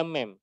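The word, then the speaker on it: meme: diaktifkan kemudian juga ada mem atau mim sebenarnya bacanya mim sih mem ini gambar-gambar lucu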